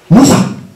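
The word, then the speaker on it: 武者: て書いて武者って読むんですね。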